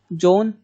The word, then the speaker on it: Joan: वुमन whose name is जॉन, वो आपको नहीं लिखना है। अब वुमन नेम्ड जॉन बेनोइट, आप पढ़ेंगे कैसे? JOAN, जॉन पढ़ते हैं, यहाँ पे ए साइलेंट रहता है।